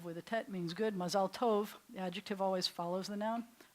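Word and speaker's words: מזל טוב: yeah like Mazel Tov so Mazel Tov is the ashkenazic pronunciation when notice we're shifting the accent to the beginning of the word Mazel and swallowing up the end of it but in Hebrews Mazel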